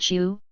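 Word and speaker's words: 秀: Xiuzheng, the son's name literally means excellent/elegant scholar, a suitably auspicious name, but Xiu, or excellent/elegant, is here pronounced the same way as the Xiu, that means sleeve, recalling when the newborn child was drawn from Gong's sleeve.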